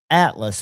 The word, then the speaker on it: ATLS: And it's called the Atlas, but it's spelled ATLS. There's no other vowel in there.